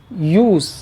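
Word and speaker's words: use: यूज जब verb के तौर पर इस्तेमाल होता है तो इसका प्रोनाउंसिएशन भी जेड के साउंड के साथ होता है, इसका प्रोनाउंसिएशन भी जे की आवाज़ के साथ होता है।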